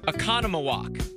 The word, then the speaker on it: Oconomowoc: even close too hard this one is called oconomowoc tyler says no but yeah i think one